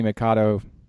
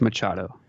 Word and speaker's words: Machado: all-star game the Mannie Mikado Manny Machado is it Mikado or Machado see I always thought it was Mikado it's Machado definitely why do people pronounce